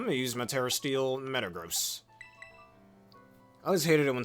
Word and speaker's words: Metagross: You don't pronounce the word, oh, that's gross, as, oh, that's gross, right? Metagross. Or gross salary as gross salary.